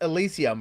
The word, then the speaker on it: Elysyum: And it's pronounced Elysyum, right? Yes. Yes, I haven't butchered it.